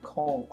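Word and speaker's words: conch: Why is it conk with ch? Because it is.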